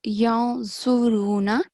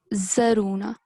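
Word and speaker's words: ينظرون: So here, this is yanzuruna, but you said zaruna. Okay, so be careful that we have a madda here and not a fatha.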